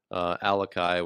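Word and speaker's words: Alaka'i: Number one, Alakai, which is spelled ALAKA apostrophe I.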